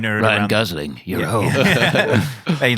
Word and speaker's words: Gosling: Ryan Gosling plays a new Ryan Gosling. Sorry. Gosling. That's how you pronounce his name.